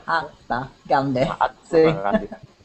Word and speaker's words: Mahatma Gandhi: Se pronuncia gustaron. Entrenó. ¿Qué más? Aprendió. Aprendió. Y luego el nombre es Mahatma Gandhi. Mahatma Gandhi.